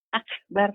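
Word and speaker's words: أكبر: Ya, jadi pengucapannya adalah akbar. Nah, seperti ini. Akan tapi dia tidak lambat. Tidak, tapi cepat.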